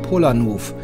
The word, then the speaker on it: Polanów: Und diesmal geht es nach Hinterpommern, nach Polanów. Ich habe mich da belehren lassen, das O mit dem Strich spricht man aus wie ein U.